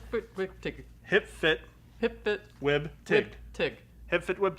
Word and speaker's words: hpftwbtG: I don't hear the capital G in that pronunciation. Tig. I don't know. Hip fit wig tig. Hip fit. Hip fit Wib. Tig.